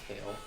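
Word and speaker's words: Cael: Kale.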